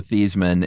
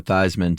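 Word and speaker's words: Theismann: it really beasman yeah The Story Goes it was Joe thean and in college he changed it to thyman to rhyme with Heisman oh really that's what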